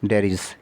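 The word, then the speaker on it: debris: 1 to catch space डेरीज। इसको डेब्रीज नहीं बोलेंगे, इसको डेरीज बोलेंगे। जो स्पेस का कचरा होता है उसको डेरीज बोलते हैं, इसको प्रोनाउंस इसको डेरीज के तौर पे किया जाएगा।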